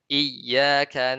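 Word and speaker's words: إياك: Kita baca tidak tasdid. Ya kan kalau bacanya nggak tasdid berarti kita menghilangkan huruf. Ya kita baca iyyaka na'budu wa iyyaka nasta'in.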